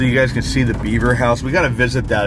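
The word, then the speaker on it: Bieber: Stone House that is known as the beaver house but it's not spelled like Beaver it's b-i-e-b-e-r I think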